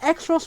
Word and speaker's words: Xross: changed it because like is it pronounced x-rust walls they pronounced it cross walls in the in the actual series like what i saw